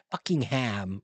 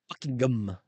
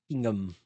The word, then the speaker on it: Buckingham: You say Birmingham, Buckingham. We never pronounce ham. It's Birmingham. It's gum. It's Buckingham. Buckingham. We never say the ham.